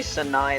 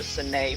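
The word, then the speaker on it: Sanae: sure I called her Sine for a while. Because in English, that's how you pronounce words that are spelled like that. Like A-E makes an A sound, not an I sound.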